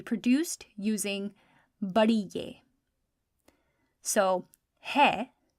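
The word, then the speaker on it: ہے: So hai, which means is spelled choti hai and badi ye. Just 2 letters. Choti hai and badi ye. Hai.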